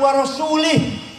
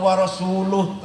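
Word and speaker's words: وَرَسُولُهُ: Allah tidak melindungi rasul-nya salah bacanya jangan warosulih innauloha barium Minal musyrikin nawaro semula atau warosuluh serat Azali Allah tidak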